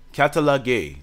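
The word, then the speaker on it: καταλλαγή: Catalogay. That's how you say it.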